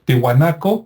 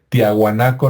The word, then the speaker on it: Tihuanaco: titicaca y también este tihuanaco que me cuesta trabajo pronunciarlo porque también me acostumbré a decir tiahuanaco no por los los este eh History Channel y el Discovery que así le decían pero tihuanaco está relativamente